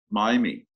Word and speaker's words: Maymi: me i appreciate that thank you ricky mamie miami miami very but everyone says mamie so it's cool but i want to i want to pronounce it correctly so miami thank you that's great tell me what are